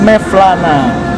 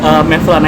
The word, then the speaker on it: Mevlana: Jadi itu Mevlana itu dibaca Maulana sebetulnya. Harusnya Maulana. Bacanya Mevlana itu dibaca Maulana karena itu spelling Turki.